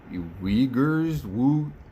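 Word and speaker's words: Uighurs: the persecution of the uyghurs let me see how to pronounce these people's names all right everybody on the internet seems to be saying uyghur so i'm going to go with that uh u-i-g-h-u-r-s um so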